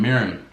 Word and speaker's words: mirin: eat that first light soy sauce and some mirin this how you pronounce it m i r n m i